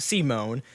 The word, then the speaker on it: Simon: territory and resources and a protagonist C Mon it's spelled Simon but it's proud C Mon because anim C Mon is a timid